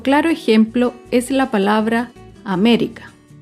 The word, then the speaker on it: América: Otro claro ejemplo es la palabra América. América se acentúa en la antepenúltima sílaba.